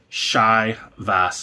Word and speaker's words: Chivas: Yes, there are more expressions from Shiva Shiva Chivas. I like Chivas. I know they say Chivas. Shivas Shivas Shivas is equally acceptable.